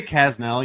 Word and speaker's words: Kasznel: I say Kasznel usually, but like there's an S and a Z. There's too many consonants. It's a weird name.